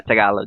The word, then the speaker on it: Tagalog: is it taglitoc you talk is it yeah tagalog yes how do you pronounce that tagalog tagalog yes tagalog tagalog yeah